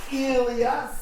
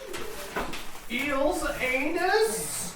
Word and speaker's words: Elias: Pronounced Elias. Eel's anus. Yes. I will also answer to. Those are the two names that I will respectfully respond to. My grandfather was Eel's anus, but I am Elias.